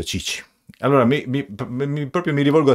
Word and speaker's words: Tite: il commissario tecnico brasiliano perché nel suo paese Tite si pronuncia Cicci Allora mi proprio Mi